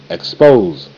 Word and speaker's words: expose: E, k, ek, sp, o, spose, spose, ek, spose, expose. S, E is silent. S from the X got with that P and made the P say sp. S make the Z sound.